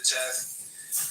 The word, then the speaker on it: Teth: of wisdom, corresponding to Teth, pronounced Taith, transcribed as T, the number 9, meaning serpent.